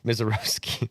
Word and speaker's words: Misiorowski: Miserroski. Are you sure it's Misoski? Roski is the Polish pronunciation.